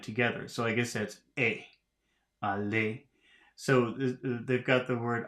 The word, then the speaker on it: allez: So I guess that's allez. So they've got the word allez, and they've underlined the E and the Z at the end. So how do you pronounce that? Allez, not allez.